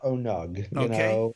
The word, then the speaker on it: ONUG: Some people call it ONUG. Okay. I prefer ONUG. Yeah. Phonetically, that's correct. Or I guess as it would be pronounced in English class, it would be that would be right.